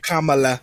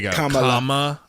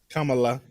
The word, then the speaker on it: Kamala: Kamala. Sorry. Let me say it right. Kamala. Kamala.